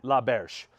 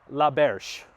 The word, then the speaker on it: L'Auberge: is we are at la verge la berge i think i'm pronouncing it right ask guy inside how to pronounce it pretty sure he said la berge which is a phenomenal